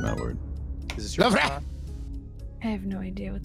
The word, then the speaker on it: Louvre: And it's like an R.